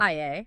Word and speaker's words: Yah: Ia, like Yah. I-A as in hallelujah.